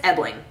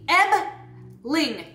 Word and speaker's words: Ebling: Okay, my last name is Ebling. I guarantee you, you were just like, what? Don't say what! It is so easy! Ebling. Ebling. It is spelled just like it sounds.